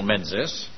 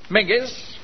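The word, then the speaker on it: Menzies: received an invitation from major general menses it's pronounced maggie's is it general minges has invited us to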